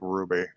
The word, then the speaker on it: RWBY: the insistence of this show on making me pronounce that like ruby did you see how they did did you